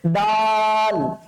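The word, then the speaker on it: دال: বাচ্চা তারা কিন্তু অবশ্যই ডালকে ডাল বলে ফেলবো না হ্যাঁ ডাল হচ্ছে রান্না করে খাওয়ার জিনিস বাট হচ্ছে ডালটা কি এটা উচ্চারণ করতে হবে এটা আরবি একটা বর্ণমালা ঠিক আছে দাল কি এটা স্যার দাল দ দিয়ে লিখবো আমরা বেসিক্যালি কি দিয়ে উচ্চারণটা দ দিয়ে দাল দাত লম্বা করে টান হবে এবং আমরা চেষ্টা করবো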